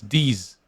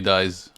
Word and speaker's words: DiSe: song i was sure his nickname was these it's like the french pronunciation i was like oh my god there's so many bad things you could say with this nickname thank god it turned out to be dice why did he change